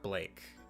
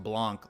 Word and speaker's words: Blanc: what really happened blank it's blank not Blake sorry or I guess it's supposed to be pronounced Blanc like rose White Rose white you know like uh Blanco uh White yeah so the the